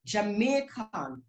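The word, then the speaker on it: Jamiekan: here is spelled j-a-m-i-e-k-a-n that's jamaican because the i-e represents a that is the letter a in part okay this is on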